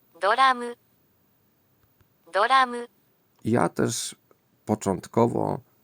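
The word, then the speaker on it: ドラマ: mieć pewną wątpliwość poważną, czy faktycznie to pierwsza sylaba w tym słowie wysoka, czyli na wysokim tonie.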